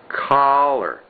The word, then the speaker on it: collar: One is an ah, and the other is an Okay, can we pronounce that? Father, ah, dollar, hot, casa, collar, casa. Over here, oh, by the way, that's the collar, collar.